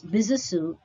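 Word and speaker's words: Besançon: in bisusu of france the word b-e-s-a-n-c-o-n is pronounced as bizasu as it is a french word he was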